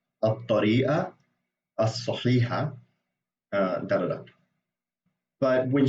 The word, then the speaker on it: الطريقة الصحيحة: and moon letters, like some letters when you have the al article, the lam kind of disappears and it gets fused into the next letter, which happens with both of these words.